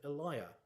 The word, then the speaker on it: Elia: his work the essays of Eliah which is apparently the original pronunciation though now tends to be rhymed with Celia a line from the